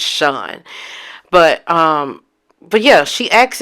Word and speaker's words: Shan: I think it's pronounced Sean. It's spelled Shan, but I think it's Sean.